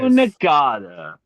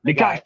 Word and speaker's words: Nagai: We watched a little movie called Violence Jack and another little movie called Devilman by Go Nagata. I remembered his name. Nagai.